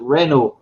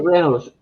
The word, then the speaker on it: Renault: Well, Vauxhall went up for auction, and Peugeot and I can't even pronounce that word. Is it Renault?